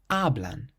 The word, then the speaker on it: hablan: Hablan, hablan. So this word has 2 syllables. The syllable before last is actually the first syllable. So hablan, hablan.